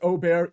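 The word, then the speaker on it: Åberg: mentioned I've got ludvig ludvig aerg well it's actually pronounced Oar either way he's minus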